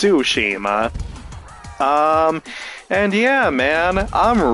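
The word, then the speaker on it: Tsushima: events of ghost of of sushima I always pronounce it ghost of toshima but it's so it's sushima um and yeah man I'm really really looking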